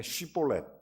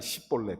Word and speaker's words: 쉬볼렛: 그러니까 이게 경상도 말을 쓰는 이 에브라임 족속들이 우리식으로 말하면 쌍시옷 발음이 안 되니까, 그래서 성경에 쉬볼렛 이렇게 말합니다. 그러니까 이 사람들이 안 돼, 시볼렛, 그러니까 쌀을 살 이렇게 하듯이.